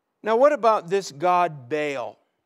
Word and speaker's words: Baal: Now, what about this god Baal? Baal, B-A-A-L, or in a Hebrew pronunciation, Baal, is the god of the atmosphere.